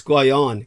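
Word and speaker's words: Guénon: I was always tempted to say that, but it's Guion.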